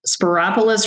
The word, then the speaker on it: Spyropoulos: sporis word say sparis is that right sporis rhymes with Metropolis ah I like that